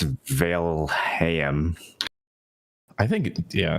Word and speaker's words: Valheim: People are sending me things on how to pronounce Valheim. I'm pretty sure it's Valheim.